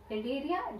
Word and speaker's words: Cnidaria: Cnidaria, the present of C is there silent.